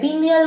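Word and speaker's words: pineal: मेरे साथ साथ प्रोनाउंस करने की ट्राई करना, ठीक है, वरना कई बच्चे ऐसा बोलते हैं, पीनियल ग्लैंड को पिनल ग्लैंड बोल देते हैं। ठीक है, ऐसा मत करना।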